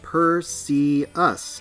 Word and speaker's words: Perseus: her design so i'm perseus from the royal navy you can pronounce it per see us if you want though well whatever are